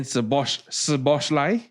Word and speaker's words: Szoboszlai: And if you are unfortunately a Liverpool fan, then Szoboszlai, right? The SZ is SS, is like a s sound.